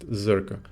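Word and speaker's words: Czerka: you through yeah and I was correct it's pronounced zurka let's see um what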